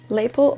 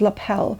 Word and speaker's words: lapel: you think it was lapel so very sorry of mispronouncing that during my time on YouTube basically I've always said label but yeah let's call it lapel if that's the correct pronunciation and we're going to